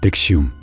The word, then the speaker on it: NXIVM: 단체의 이름은 NXIVM, 발음은 넥시움.